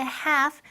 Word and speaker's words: half: Y ojo, la pronunciación de half, la L fuera, es muda, la L no la pronunciamos.